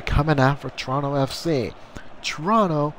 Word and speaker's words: Toronto: Toronto, our first O is silent.